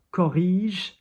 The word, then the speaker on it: corrige: Corrige, nice, soft G.